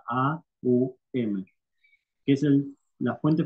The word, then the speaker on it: Om: que es el om el om no se pronuncia om se pronuncia a u m que es el la